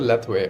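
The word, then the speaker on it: Lethwei: called l lith or something yeah you said leway leway right that's how you pronounce it leway okay so in leway you use uh all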